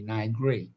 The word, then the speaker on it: Niger: I think they pronounce it a little differently, Niger. Mm-hmm. But it's not Nigeria, but it's a country in Niger, in Africa, where the government has been overthrown.